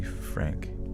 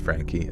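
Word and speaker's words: Franke: Ruby Frank. Ruby. Is it Ruby Frank or Ruby Frankie? Venom. Venom. Franka. Frankie. That's pronounced Frankie.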